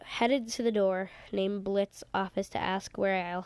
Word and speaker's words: Blitzo: If you didn't figure, my name's Blitz." The O is silent.